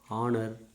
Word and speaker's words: honour: For example, HOUR, our, HEIR, air, HONEST, honest, HONOUR, honor, HONORO, RIM, honorarium, HONORARY, honorary, HONOURABLE, honorable. All these are H is silent.